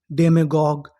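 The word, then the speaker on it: demagogue: जी यू ई इसे क्या पढ़ना था? ग। तो हमारी पूरी मीनिंग क्या बनी? डे मेग डेमगोग डेग डेमोग का मतलब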